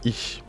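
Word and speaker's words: איש: Et là, nous avons la lettre Shin, donc ça se dit ish.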